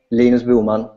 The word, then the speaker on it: Linus Bohman: By the way, the name Lena Bulman in Swedish.